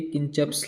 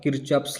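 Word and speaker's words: Kirchhoff: Okay dear student, देखिए कि किंचप्स लॉ या किरचॉप्स लॉ इसको क्या कहता है. आप इसको ऐसे प्रोनाउंस कर सकते हैं, किरचॉप्स और किंचप्स लॉ.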